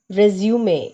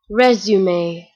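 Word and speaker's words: résumé: I want you to listen to the pronunciation of the word resume a resume resume is a French word which means the summary the summary here is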